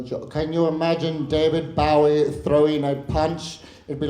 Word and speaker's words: Bowie: David Bowie, to give you a correct British pronunciation. David Bowie.